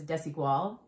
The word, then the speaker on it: Desigual: of their stores and asked them to pronounce it correctly. And there were all variations of, because I think it's one of those brands that, anyways. So I think she said it was Desigual. But I hear all variations.